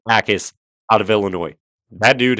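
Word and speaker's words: Jacas: I've been saying Jackis. It kind of sounds funny. It's not even correct. It's Gabe Ais out of Illinois.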